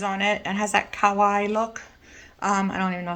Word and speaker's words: kawaii: So anything that's got Japanese tags on it and has that kawaii look, I don't even know if I pronounced that right, but the K-A-W-A-I-I look, like kawaii, like Hawaii, kawaii look, I will pick up.